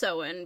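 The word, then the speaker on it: Samhain: Uh, and um back to ancient Ireland to a festival called Sewen. Um, it's it's spelled Sam Hayne for the record. It's pronounced sewen because Ireland does weird So,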